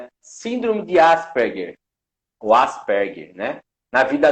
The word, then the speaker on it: Asperger: é, é, só que eu falo Asperger, nem sempre eu falo certo, mas é Asperger.